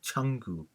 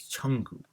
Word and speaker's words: changu: There will be a nasal sound ng added in between to make it more easier when you pronounce, and it sounds more familiar now as changu.